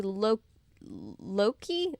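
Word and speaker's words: Loci: net with enough empty Loki it's spelled like Loki the God but with a c instead of a k uh to get me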